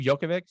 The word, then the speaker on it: Djokovic: the guy that's been around forever right yeah djokovic how do you say his name jokovic yeah djokovic djokovic yeah and that so the